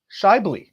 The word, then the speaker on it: Schaeuble: podcasting and business strategies to the show shy very nice Phil better great man great job on the pronunciation I I know it's always an intense